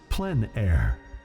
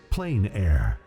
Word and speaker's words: plein air: open air or outdoors the French pronounced it plan air others say plein air no matter how you